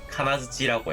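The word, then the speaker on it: 金槌: 금속 장식을 카나구라고 하고요, 쇠망치를 카나즈치라고 해요.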